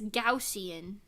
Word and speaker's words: Gaussian: point someone had to tell me that it's gaussian if no one told me I would just